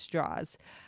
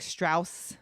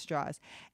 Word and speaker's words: Strauss: your antagonist is Louis straws and it's com it's pronounced straws um it looks like Strauss but it's pronounced straws and basically these two